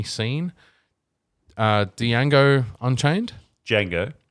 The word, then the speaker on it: Django: uh diane go unchained django django sorry silent i've been tom the d silent clip clip clip i